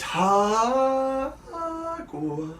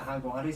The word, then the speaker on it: Jaguares: Brumbies Jaguars. Do you pronounce it Jaguares? Yeah. You like Jaguares? I heard Greg Clark, when he commentates, he calls them the Jaguars.